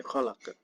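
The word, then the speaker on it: خلق: Jadi dibacanya khalaq, bukan kholak tapi khalaq.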